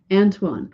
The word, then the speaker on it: Antoine: Antoine. Oh, okay. That's how his name's pronounced. Thank you, Bruce. So I was saying that wrong. Is that French?